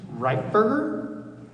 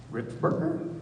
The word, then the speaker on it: Ripberger: Reitberger? did I say it right? No. Can you tell me how? Ripberger? Yes, it's Ripberger, and I'm from Lapine.